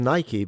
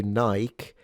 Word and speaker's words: Nike: I'm surprised he says Nike, because I've only heard people in England say Nike.